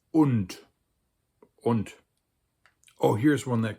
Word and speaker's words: und: And in German, it looks closer to the English, but it's spelled with a U, so it's und.